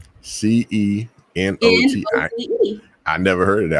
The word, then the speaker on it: cenote: I think visiting like one of the C notes there. The C notes. Yeah. What the hell is the C notes? I thought is that how you pronounce it? I might be wrong. It's CENOTE. CENOTE.